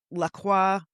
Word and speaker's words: LaCroix: So it's my name l a s a and my name Lacroix spelled like the water LaCroix, but pronounced differently.